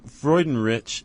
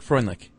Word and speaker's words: Freudenrich: I thought it was Craig Freundlich. No, there's no L.